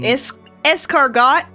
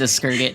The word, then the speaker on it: escargot: Um, escargot. Esurg. My entire family says Eskrget. Not because they don't know how to pronounce it, just cuz they like it.